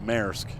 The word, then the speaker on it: Maersk: like we'd pronounce it like like masks we pronounce it masks you know ma ers K maersk and ma I'm like isn't it pronounced mayor so they're like nope masks I'm like okay